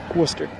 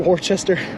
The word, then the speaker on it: Worcester: which is light it's Worcester Worcester Worcester there's not even an r in the first half it's Worcester Worcester yeah w-o-o-s-t-e-r Worcester so not Worcester Worcester and